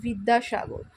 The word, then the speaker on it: বিদ্যাসাগর: এবং যে বর্গীয় ব রয়েছে, সংস্কৃতে বর্গীয় বয়ের উচ্চারণ বি এবং অন্তস্থ বয়ের উচ্চারণ ভি। সংস্কৃত অনুযায়ী আমরা বিদ্যাসাগর এবং বিবেকানন্দ বি দিয়ে স্টার্ট না করে ভি দিয়ে স্টার্ট করি, ওই জন্য বলি বিদ্যাসাগর।